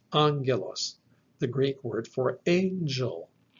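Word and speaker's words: ἄγγελος: This gives us the word angelos, angelos, the Greek word for angel. And so in English, the NG is reproduced with a soft G sound. But the Greek word is actually angelos, angelos.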